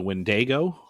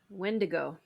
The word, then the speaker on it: Wendigo: Um, so this also has crossover into the Wendgo. Is that Did I say that right? Wendigo.